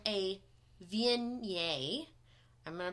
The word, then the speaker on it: Viognier: it is called a viennier I'm going to pronounce this properly it is not spelled like it sounds I read it's French and the best way